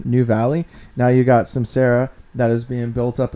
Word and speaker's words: Cymcera: Cymcera?